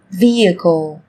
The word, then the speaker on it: vehicle: Trong tiếng Anh cũng có một số từ mà cách viết chúng ta thấy xuất hiện chữ cái h, nhưng khi phát âm thì chúng ta lại không cần phải phát âm này, người ta còn gọi là âm h câm.